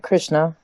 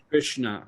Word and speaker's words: Krishna: The S, when there's a dot under the S or there's a slash over the S, it's pronounced SH. Yeah. Like Krishna. Yeah. Krishna.